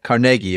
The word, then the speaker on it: Carnegie: It was Carnegie, if you want to say it correctly, but Carnegie Steel.